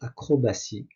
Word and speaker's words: acrobatie: Lequel des mots suivants contient la lettre T prononcée S ? Bien sûr, c'est le C acrobatie.